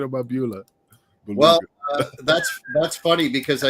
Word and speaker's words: Beulah: What about Balula McGillicuddy, Tommy Dreamer's Balua? Balua, Beulah. I could never pronounce it correctly, but Beulah. Dreamer, what say it? Beulah McGillicuddy. Sorry. Beulah. Balua. Beulah. It's not beluga caviar.